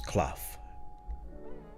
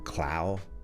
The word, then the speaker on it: Clough: My name's Clough. Clough. How do you spell that? Well, C-L-O-U-G-H. I know it sounds like Clow, Clue, and then suddenly I'm not a double O anything anymore.